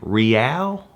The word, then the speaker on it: real: Speaking of money, one reason we loved Brazil was because our dollar was worth 4 Brazilian real.